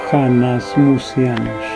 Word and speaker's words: Hanasmusianos: Esta palabra se pronuncia con J, así, Hanasmusianos.